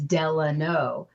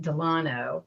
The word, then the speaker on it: Delano: And I was remiss in not putting in the notes, it is Delano. And she pronounced it Delano, like an Italian city.